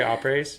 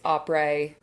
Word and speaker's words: après: say après s? Yeah. And I heard I've heard people say après and après s. So, it's après. The S is silent. The A is a soft A.